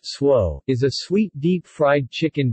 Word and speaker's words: Tso: General So's chicken, pronounced swo, is a sweet deep-fried chicken dish that is served in North American Chinese restaurants.